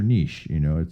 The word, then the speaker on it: niche: Niche or niche? I think the proper pronunciation, because a French word, is niche, but Americans say niche.